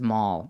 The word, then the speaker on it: Mal: wanted to say that mall. Oh, subtitles. I always wanted to pronounce it mal, because I guess I'm in my American. brain when I see the spelling.